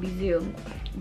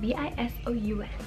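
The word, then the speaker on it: Bisous: Like I said, it's Emily and the company is called Bisou, but it's spelled B-I-S-O-U-S, but it's called Bisou.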